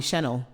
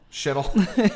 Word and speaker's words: Shennel: But now with AI, it likes to call me Chennel. Shennel. Because of how it's spelled.